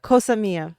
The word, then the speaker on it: Cosa Mia: Yeah, Cosa Mia. Because I always say Casamigos and I know it's not Casamigos.